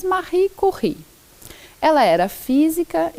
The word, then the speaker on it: Marie Curie: Talvez você ouça falar dela como Marie Curie, mas a pronúncia correta é em francês Marie Curie.